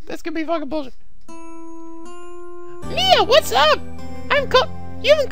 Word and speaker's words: Mia: I actually kind of realized when I was going back and editing, but I pronounced it's Mia, not Maya, the girl from before. I kept calling her Maya for some reason, but and now we have a real Maya.